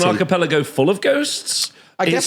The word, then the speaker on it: archipelago: I can never pronounce the Ghost Archipelago. Archipelago.